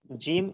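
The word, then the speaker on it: ج: একটু পার্থক্য করতে হবে জিমের মাখরাজ হচ্ছে জিওভার মধ্যভাগ তার বরাবর উপরের তালুর সাথে লাগিয়ে জিম এটা শক্ত এবং একটু মজবুত ভাবে আওয়াজ হবে জিম জিম আরেকটা হচ্ছে জা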